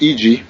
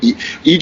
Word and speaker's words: Eiji: So, I just sent you the interview with EG, and I spelled his name wrong, but it's EIJI. So, you got it.